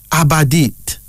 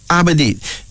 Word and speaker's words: Abadit: Our first female names is Abadit. Abadit. That's A-B-A-D-E-E-T. I repeat, A-B-A-D-E-E-T. Abadit.